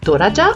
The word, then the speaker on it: トラジャ: Donc à la japonaise ça fait Tora et Ja. D'où la prononciation Toraja.